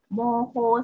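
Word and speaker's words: 模倣: Aiteo moho sitari, ini bacanya moho.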